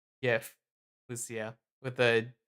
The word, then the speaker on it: GIF: It's obviously pronounced with a soft G as in giraffe. Geez, don't tell me you're one of those weirdos saying it with a hard J, Erthar.